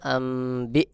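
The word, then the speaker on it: أَنْبِئْهُم: আমজা জের বি আনবি এখানেও দেখুন নুন সাকিনের পরে বা ইকলাব গুন্না হবে সহি উচ্চারণ হবে আমবি হা মিম পেশ হুম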